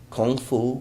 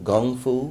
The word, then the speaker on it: Kung Fu: it be karate Taekwondo Kung Fu Gung Fu because there's two ways of pronouncing it but one feels that